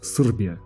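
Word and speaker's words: Србија: часто не произносятся гласные Например если мы скажем Сербия то серб скажет срби без буквы е здесь на площади окружённое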